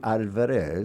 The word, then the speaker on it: Alvarez: It should be Alvarez. Alvarez. But the hooers pronounce Alvarez and they often put an e in there and you know I just you just get used to it.